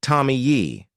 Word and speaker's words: Tomie: And let me tell you, the pronunciation of Tommy in Japanese is a bit like Tommy Yi.